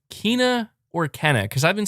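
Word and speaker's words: Kena: playstation plus which saying kina so it is kina okay i've been saying it wrong this whole time then i've been saying kenna can it just i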